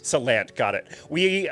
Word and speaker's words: Salant: Well, generally people, I say Salant, but a lot of people do say Salant, but the way it's correctly pronounced is Salant. Salant, got it.